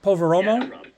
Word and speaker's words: Poveromo: name that's right so poveromo it's yeah yeah it's kind of is pronounced the way it looks once you think about it for a second it's a very phonetic name it's never that hard